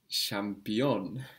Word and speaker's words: şampiyon: The word for champion in Turkish is şampiyon. Şampiyon. The ch becomes ş.